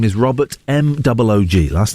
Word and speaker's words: Moog: His name is Robert M-O-O-G. Last name is M-O-O-G. Everyone says Moog. It's not Moog. It's pronounced Moog.